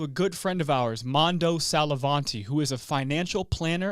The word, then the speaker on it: Mando Sallavanti: Mando Sallavanti. Is that how you say it? Perfect pronunciation. So we got that's a first, bro. Come on, I'm not gonna man. lie. Let's go. Mando Sallavanti.